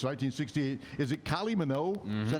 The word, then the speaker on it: Kylie Minogue: Is it Kylie Minogue?